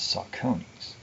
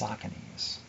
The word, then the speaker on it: Saucony: not sarcomes or sauciness that's how they're actually pronounced but i learned it as saccones and i only learned later that it's saucony's and i guess that's the correct way to